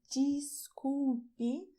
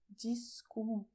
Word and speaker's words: desculpe: In Brazil, we pronounce "DESCULPE" when we say "sorry". And the sound at the beginning of the word is like "jeans" in English: "DESCULPE".